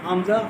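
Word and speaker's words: همزة: এখানেই তো ইয়ে আছে, হামজা হা, সহজ জি, কবি আছে। এটা হলো আমাদের প্রথম মাখরাজ। 17টা মাখরাজের প্রথম মাখরাজ কি? হামজা হা। এটা উচ্চারণ হবে কোথেকে? কণ্ঠনালীর শুরু থেকে।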